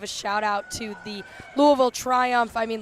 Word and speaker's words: Louisville: out to the Louisville, as is I'm pretty sure supposed to be pronounced Louisville, but here in the Metro Detroit area they say Louisville. I don't think that's necessarily how you're supposed to say it, but definitely wanted to